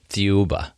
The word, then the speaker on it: Thiaoouba: How do you pronounce it? Thiaoouba.